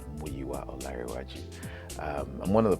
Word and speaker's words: Muyiwa: I'm I'm mua uh you usually hear them say mua on Premiere the proper pronunciation of my name is muaj um I'm one of